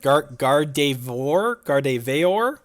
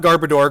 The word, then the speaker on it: Gardevoir: Gardevoir? Not Garbodor. Garbodor is a different Pokemon.